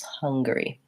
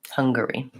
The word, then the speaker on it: Hungary: as he he loves how to pronounce that first syllable stress Hungary Hungary okay so we also